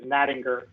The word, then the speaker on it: Nattinger: So the correct pronunciation of my last name is Nattinger with a hard G.